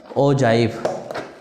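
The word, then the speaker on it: ogive: ओजाइव की spelling भी ऐसी है कि आपको लगेगा ये ओजाइव है ही नहीं, ये है स्पेलिंग। ओगे पढ़ोगे, है ना, ओजाइव है ये।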